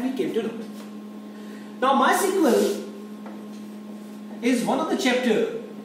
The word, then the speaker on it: MySQL: my sequel revision 2 I've written my and SQL but I am reading it my sequel the pronunciation of as